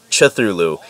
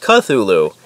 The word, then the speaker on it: Cthulhu: I swear to God I thought the names thing was called Cthulhu and I later on found out it's pronounced Cthulhu I had no idea so